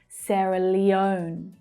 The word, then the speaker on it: Sierra Leone: Now it's actually the last syllable that's stressed there. It's the O as in go vowel sound. Sierra Leone. O, Leone, Leone. Sierra Leone.